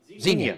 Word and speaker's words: Xenia: oh hang on hang on how do you pronounce the city of Xenia north of you guys Xenia there you go kick him out yeah the